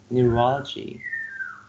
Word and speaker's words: neurology: we have like neurology neurology four syllables and the second syllable receives the stress neurology you mess with e